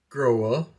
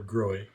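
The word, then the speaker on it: Grohe: about earlier by the way I did call grow up and that is how you pronounce it does not grow or growing so in any case this little fella screws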